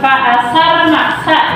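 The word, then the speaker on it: فَأَثَرْنَ: Misalnya di sana ada kalimat fa'asarna ya, fa'asarna. Nah, kemudian pengucapan qalqalah tadi ya, pengucapan qalqalah fawasatna itu pantul.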